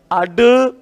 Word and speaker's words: ड़: क्या बोला जाता है अड अड देखो उत्क्षिप्त का अर्थ क्या होता है फेंका हुआ जिसके उच्चारण में जीवा ऐसा महसूस कराती है जैसे इन्हें फेंक रही इसलिए इनको क्या कहते